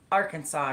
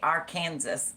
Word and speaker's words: Arkansas: Yes, you have to say Arkansas. You cannot say our Kansas or you can get in big trouble according to the law.